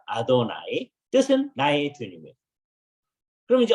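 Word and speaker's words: אֲדֹנָי: 만 지 모르는데 그걸 전부 다 돌려 가지고 아도나이 라고 발음을 아 아도나이 뜻은 나의 드리며 그럼 이제 어떻게 되냐면 아돌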